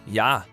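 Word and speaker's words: já: hello and Icelandic is pronounced Hollow thank you is talk yes is yah no is nay goodbye is bless 14.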